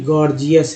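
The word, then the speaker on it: gorgeous: अब ये देखिए गॉर्जियस है, गॉर्जियस, जीएस। दोस्तों एक गॉर्जियस उच्चारण हुआ, यानी पहला जी ग, दूसरा जी ज के रूप में उच्चारण हुआ।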